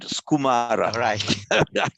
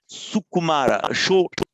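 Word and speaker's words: सुकुमार: but there was one one syllable that you pronounced there as if it were japanese because in japanese phonetics you wouldn't say in japanese which is what you did you said skumar oh that's japanese coming out there like that was very interesting so just remember very good here thank you so pronounce it as two as two distinction sukumara okay thank you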